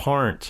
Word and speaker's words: Peart: We've been saying it wrong all these years. Is it Part? It's Part or something like that. Yeah. Part.